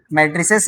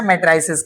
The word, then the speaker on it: matrices: Okay ना, इसको हम लोग मैट्रिसेस या मैट्राइसेस कहते हैं, जो आप इसको प्रोनाउंस कर सकते हैं, कर लीजिए।